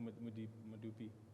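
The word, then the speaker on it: Medupi: We need the money for Madupi and Kusile. How do you say that? Yeah. No, you're right there. I don't want to try. Okay. Madupi.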